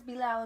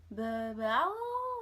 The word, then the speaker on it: Bilal: But his name is Bilal. B-I-L-A-L. I'm spelling it because everybody asks, what's his name? What's his name? And I say, oh, his name is Bilal. And they're like, Bilal?